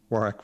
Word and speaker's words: Warwick: Warwick with the silent W there in the middle.